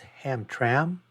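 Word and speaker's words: Hamtramck: from the city of I believe it's pronounced ham tram I'm not sure how it's pronounced but it's h m t r m CK so I'm not sure you know where the uh phonetics are where but let's say he's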